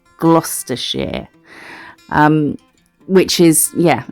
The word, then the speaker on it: Gloucestershire: place on cooper's hill in gloucestershire which is pronounced gloucestershire um which is yeah it's a it's a